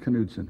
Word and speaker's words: Knudsen: Pronounced Knudsen? It's pronounced Knudsen, yes. Because my mother was born in Norway, and I know those things.